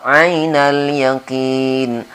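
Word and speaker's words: عين اليقين: Ainal ain. Sering juga sama dengan kasus ilma tadi. Sahabat-sahabat kita sering di sini hanya seperti kedengarannya alif ya. Misalnya membacanya begini. Thumma la tarawunnaha ainal yaqin. Itu seolah-olah alif padahal di sini ain. Jadi hati-hati juga di ainal yakin ini.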